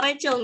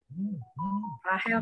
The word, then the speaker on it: Rahel: Untuk doa yang kedua mungkin aku akan pilih ini Rahel apa Rachel nih bacanya? Yang Rachel strip sektor 2. Rahel, Kak.